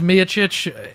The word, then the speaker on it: Miocic: says it one way he says me a Chooch it's good it's Mia